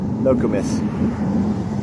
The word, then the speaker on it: Nokomis: So, the Nokomis Cemetery, pronounced No-co-mis, Nokomis Cemetery.